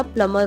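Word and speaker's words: plumber: ऐसे काफ़ी सारे होते हैं, जैसे कि प्लम्बर, बहुत लोग बोलते हैं प्लम्बर, लेकिन सच में प्लम्बर नहीं होता, प्लमर होता है।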